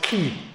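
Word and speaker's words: χ: nom spécial c'est le X en grec se prononce qui c'est ci la lettre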